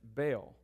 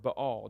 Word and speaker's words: Baal: There was another god who was a predominant god, and his name is Baal, or Baal, depending on how you prefer to pronounce it.